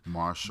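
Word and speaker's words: MRSHLL: to know featuring Marshall I think it's pronounced Marshall but it's all caps it's R it's m r s h l l all caps it seems like Marshall's just without the vowels the Millennials be taking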